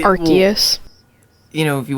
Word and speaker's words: Arceus: Arceus? Yeah, I think so. The hard C. I think it's a hard C. Okay, Arceus.